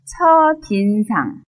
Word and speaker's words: 첫인상: 그렇지 않은가 봐요라고 했네요 첫인상 발음에 주의하세요 첫인상 첫인상 어떤 사람을 처음 만났을